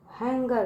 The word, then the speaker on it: hunger: ठीक है, हैंगर, क्या है वो, हैंगर है, हैंगर। ठीक है, बच्चों यहाँ पे जो यू है वो साइलेंट है।